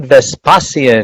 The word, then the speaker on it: Vespasian: I want to take this opportunity and let's welcome to the show Vespasian. Did I say that right? Yes, perfect pronunciation.